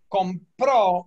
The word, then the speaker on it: compró: Yeah, but it's a stress. Right. So compro is I buy. Compró is he bought.